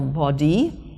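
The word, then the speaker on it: Baudy: them stayed in a hotel called the hotel body now that's spelled b-a-u-d-y it's not body um but yeah well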